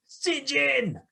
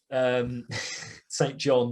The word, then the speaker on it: St. John: an ex-Vietnam helicopter pilot who lost his brother, SinJin, St. John SinJin, whichever pronunciation you prefer, in Vietnam.